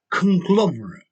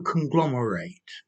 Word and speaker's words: conglomerate: hi their students conglomerate to conglomerate so notice there's a slight difference in pronunciation the noun a conglomerate or the verb to conglomerate conglomerate um okay so